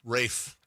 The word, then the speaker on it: Ralph: Ralph Fines. Rafe. Oh, is that how it's pronounced?